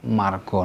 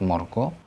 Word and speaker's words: margo: is with R sound, because A followed by R is always pronounced R, no matter if it's final or penultimate. For example, karso, not korso, wargo, not wargo, jarwo, not jarwo, margo, not morgo, arto, not orto, argo,